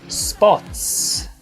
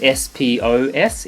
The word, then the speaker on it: spots: Spots. Spots. So hear the difference. If it was S-P-O-S, it'd be spos. Spos. But we're not saying that. It's got the pause. Spots.